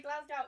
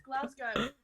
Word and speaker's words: Glasgow: pronouncing it right glasgow it's not pascal i hate this when americans say glasgow no it's glasgow glass go to work well she